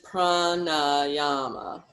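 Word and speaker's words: prāṇāyāma: Okay, so, okay, yama, niyama, pranayama, and it's pranayama. There's long and also, just if you're noticing correctly, it's not pranayama, it's pran.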